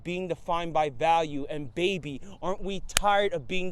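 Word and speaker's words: 八: locked in eight places number eight in chinese is pronounced ba it's considered the luckiest number because it sounds similar to the way we say good fortune so in a way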